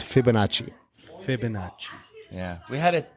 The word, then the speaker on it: Fibonacci: Since you're here, what is the correct pronunciation? Fabinucci, Fabinucci. How do you say it? Fibonacci.